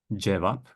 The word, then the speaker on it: cevap: But in Turkish, it only has one pronunciation, and it's always going to be J. Cevap, cami, ceviz, ceket.